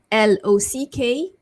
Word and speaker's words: locked: The next word, LOCKED, so the ending is k, right? K, basically k, you don't make a voice, k. So you also end the ed with the t sound, right? So locked, locked.